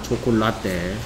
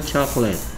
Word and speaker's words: chocolate: 초콜라떼. 네. 초콜라떼가 아니고 발음은 누가 쓰라 그러면 초콜라떼. 초콜라떼. 읽으라 그러면 초콜릿.